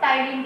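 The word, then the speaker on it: ptyalin: पहले इसको पहले जाना जाता है इसको टाइलिन के नाम से, टाइलिन के नाम से. पी इसमें साइलेंट रहता है.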